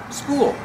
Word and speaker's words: spool: do you pronounce it school use the long ooh like pool followed by the dark l cool cool the hose is on a